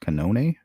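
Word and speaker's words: Cannone: Judges Beverly, I think it's pronounced Canone, and July of 2024 was the mistrial.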